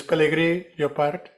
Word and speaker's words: Pelegri-Llopart: Yeah, so The rest doesn't matter, and you can roll the R or not. But it's Pellegrini Llopart.